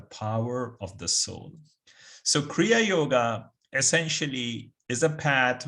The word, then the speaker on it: Kriya: Kriya, the word, it has two syllables, Kri and Ya.